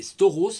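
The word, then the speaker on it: σταυρός: appris je me rappelle c'est stores stores regardez le mot stores par contre je sais plus comment ça s'écrit et ça crée STO R a u s je crois cette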